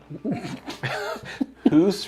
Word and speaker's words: Hoose: Hoose rhymes with moose or caboose.